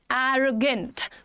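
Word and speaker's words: arrogant: एरोगेंट pronunciation क्या है? एरोगेंट। एरो ए और ओ पे एरोगेंट।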